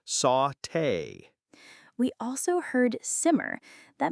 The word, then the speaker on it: sauté: It's pronounced sauté.